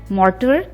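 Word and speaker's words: mortar: मॉर्टर, इसमें टी को D pronounce करेंगे, मॉर्टर एंड पैसल।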